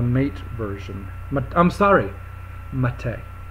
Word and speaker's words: MATE: I'm sorry maite not mate you know for many years I called it mate and then I went to their website and it's and they were saying it rhymes with latte not with mate so it's like latte